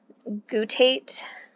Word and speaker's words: guttate: Guttate or guttate, however you want to pronounce it, psoriasis, small drop-shaped scaly spots often triggered by childhood or young adult throat infections.